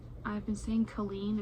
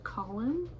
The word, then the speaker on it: Colin: Also, I've been saying Colleen, it's Colin. I have been saying it wrong.